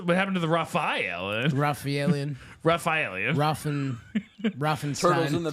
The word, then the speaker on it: Rafaelian: I I want your help with how to pronounce this name okay it's remember r a f a e l Raphael yeah Raphael i a n Rufio Raphael Ruf Ru Jeremy it's raphaelian sure